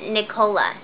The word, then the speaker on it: Nicola: I think you actually say that Nicola, right? Nicola. I think she was telling me how to say it. Yeah. Nicola. Toronto. Like Ricola. Like cola. Like cola, like yeah. Like Coca-Cola.